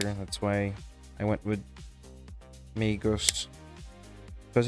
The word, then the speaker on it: Magos: Magus. Yeah. No. My name is Oh, actually. it's not. Otherwise, I would spell the Magus. I would spell it with an O, not a U. So it's Magos.